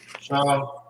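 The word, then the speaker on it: שהם: Onyx is how you say onyx in the Hebrew? Shaham.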